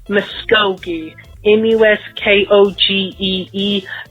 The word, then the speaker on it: Muskogee: be in the state of Oklahoma and it's pronounced Muskogee in the West kog EE not Muskegon that oh did I say miss Keegan or